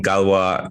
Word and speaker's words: Galois: guest this week is kevin joe uh from galwa capital i'm pronouncing that right i did my research before